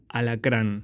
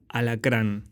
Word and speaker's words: alacrán: And now we carefully take the scorpion: alacrán . All vowels are clear, open and smile never leaves the lips: alacrán.